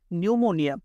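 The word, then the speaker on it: pneumonia: পরের শব্দটা খেয়াল করেন, নিউমোনিয়া। নিউমোনিয়াতে শুরু হয়েছে কি? পিএন দ্বারা, তার মানে পিটা সাইলেন্ট থাকবে।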